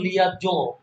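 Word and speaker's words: liaison: লিয়াজো হ্যাঁ লিয়াজো বাংলায় বলা হচ্ছে লিয়াজো সেন্স উচ্চারণ হচ্ছে লিয়াজো জো জয়চন্দ্র কিন্তু থাকে না লিয়াজো সন্দেহজনক মৃত্যুতা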